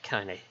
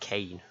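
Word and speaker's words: Kainé: Yeah, because originally I was calling it Kane, but then I think I heard someone pronounce it as Kine, and I was like, that's probably the pronunciation I should be going for.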